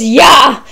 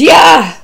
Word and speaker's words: Jah: spelling says j-a-h but the pronunciation in Hebrew the J is a y so it's yeah and that is the proper pronunciation praise yeah praise ya hallelujah hallelujah now we